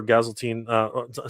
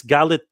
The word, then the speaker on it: Galitzine: And I'm going to talk a little bit about the casting for Gazeltine. Sorry, I'm always pronouncing his name wrong.